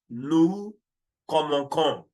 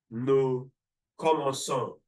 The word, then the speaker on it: commençons: If that c'est dire is not there, it will be pronounced as nous commençons. But for phonological reasons, for you to conjugate this verb, it's going to be nous commençons.